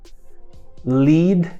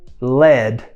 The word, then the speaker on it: lead: mesma palavra aqui porém o significado é chumbo Lead é o verbo LED é a palavra chumbo então mesmo escrita pronúncias diferentes significados diferentes é um encontro consonantal